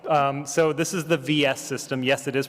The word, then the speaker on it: VS: Um, so this is the VS system. Yes, it is pronounced VS and it stands for versus, but it's not pronounced versus, it's pronounced vs.